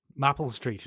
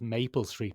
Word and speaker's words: Maple Street: due on mapple street mapple street now Ben's put a little twist in it there because I think it's pronounced Maple Street but I guess we'll